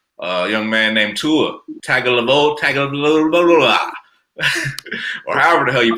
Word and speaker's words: Tagovailoa: Why you gonna pronounce a man's name like that though, man? Tua Tagovailoa.